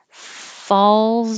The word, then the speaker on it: falls: is here to help if you have trouble making a z at the end of this word false then think of a word that your you can pronounce easily that begins with a z there's not very many